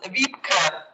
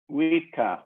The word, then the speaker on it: Wiebke: Yeah, the name is pronounced Wiebke. Wiebke, okay. Wiebke, yeah, it's a German name.